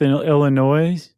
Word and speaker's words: Illinois: Followed by Monmouth, Illinois. I forgot the S is silent.